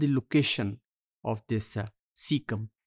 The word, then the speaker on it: caecum: ये एक सिंगुलर होगा, दैट इज सीकम, और इसकी स्पेलिंग है CAECUM, और प्लूरल में जिसे हम सीकी कहेंगे CAECE.